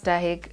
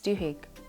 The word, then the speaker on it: Duhigg: generally is the author charles dahek looks at duhigg actually that's his name it's charles duhigg oh i have butchered